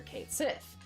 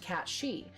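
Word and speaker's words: Cait Sith: Sith or cat shei growing up I called this character Kate Sith CU that's what it looked like phonetically then we saw something online that said it was pronounced cat shei because it's like comes from gelic or something like that um but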